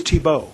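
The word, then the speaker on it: Thiebaut: left the whole family pronouncing his name correctly t-bolt t-bolt he's the from district 10 like it's Tebow Tebow Oh second assailant very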